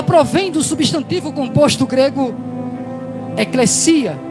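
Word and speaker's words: ἐκκλησία: do substantivo composto grego eclesia, o que alguns pronunciam eclésia, devido ao português, às vezes o s ter som de Z, mas a pronúncia correta no grego, no grego é eclesia, que por sua vez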